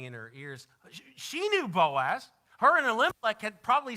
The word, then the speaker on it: Boaz: say his name was how do you say it in your Hebrew tongue Buzz and the booze Boaz that's it Naomi hears the name ringing in her ears she knew Boaz her an Olympic had